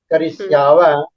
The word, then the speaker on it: करिष्यावः: Karisyati, Karisyata, करिष्यत करिष्यन्ति करिष्यसि करिष्यथ करिष्यथ करिष्यामि करिष्याव करिष्याम Karishyavah, karishyamah. You are not pronouncing the visarga.